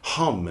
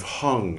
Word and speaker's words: hum: We should say hum instead of hung, and we should say pema instead of, or we should say padma instead of pema.